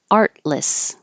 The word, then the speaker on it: artless: in such minuscule amounts artless you hold that first T so you won't hear it artless the house was